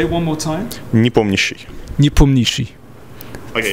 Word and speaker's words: Nepomniachtchi: In Russian, it sounds like "NEPOMNIACHTCHI". It's in Russian. Okay, so the stress on the POM. Yeah. Okay, sure. Say it one more time. NEPOMNIACHTCHI.